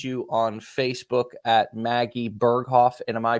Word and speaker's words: Berghoff: Can people find you on Facebook at Maggie Berghoff? And am I pronouncing that right?